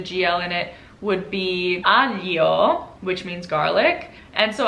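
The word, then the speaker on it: aglio: in it would be anjio which means garlic and so i would break it up phonetically as al ye o so aliyo if you say it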